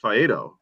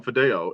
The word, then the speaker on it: Faedo: You don't say it's just Faedo. You just call him Fideo, and I get it. It feels like it should be Fideo. Just think it's Faedo rhymes with Laredo.